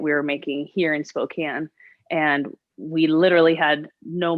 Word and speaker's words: Spokane: Yeah, it's pronounced Spokane.